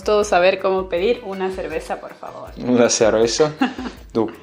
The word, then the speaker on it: cerveza: Una cerveza, ou comme on dirait en espagnol d'Espagne, una cerveza. Donc attention, eux, ils prononcent de cette façon, un petit peu comme le TH anglais.